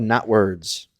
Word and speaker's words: Knotwords: about a game called not words okay and this is all one word okay and it is spelled k n o t ah not words okay when you look